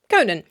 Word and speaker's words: Conan: So if you don't put a fada on the name Conan, as in Conan O'Brien, you pronounce it Conan.